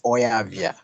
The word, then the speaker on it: Oyavia: By the way, it's pronounced as Oyavia.